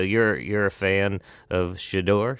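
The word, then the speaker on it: Shedeur: So you're you're a fan of Shidor." Shidor is how you pronounce his name. Shador.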